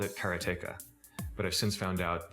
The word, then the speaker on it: karateka: A lot of people say karateka or karateka. In Japanese, there's no stress on any syllable, so it would be karateka, something like that. I called it karateka, but I've since found out that pretty much everybody pronounced it differently.